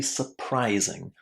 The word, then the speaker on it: surprising: That letter u is pronounced in a very very short way as uh surprising.